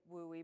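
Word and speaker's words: WUE: It leads me to the WOOI we it's pronounc they say WOOI but it stands for Western Undergraduate Exchange.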